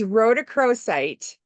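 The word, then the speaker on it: rhodochrosite: super nice it um this is called a Roc cro site it's a pink stone it what I said I'm glad you said that I don't think I can pronounce it it's Ro to cro site um yeah it's it's a beautiful stone I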